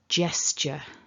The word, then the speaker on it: gesture: away points for today it's not a ga it's a j and don't pronounce that e at the end and it's not an